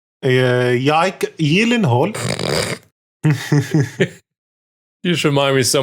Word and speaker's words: Gyllenhaal: So we have Jack Gyllenhaal inside for some reason. No, there's a Division film starting. Oh, Jack, okay. His name is actually pronounced Gyllenhaal. Yike Gyllenhaal.